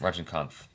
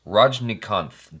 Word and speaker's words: Rajnikanth: Did I say his name correctly? Rajnikanth. Yes. Rajnikanth. There's an N in there I was missing. Rajnikanth.